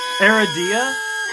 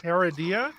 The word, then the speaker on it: Aradia: That's the most common mispronunciation when people see it on paperwork is Aradia.